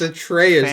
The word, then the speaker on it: Atreus: It's Atreus, not Fam. Atreus. His name doesn't rhyme with goose.